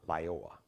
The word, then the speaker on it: Lyoya: He and his family, Lyoya.